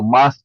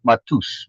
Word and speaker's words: Matus: meus me Maus Maus oh Maus not matus matus oh the t is pronounced as a th okay matus oh then then it is Maus okay yeah that's what